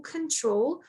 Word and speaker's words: control: I'll slightly correct you we usually say control yes and stress the second syllable but everything overall was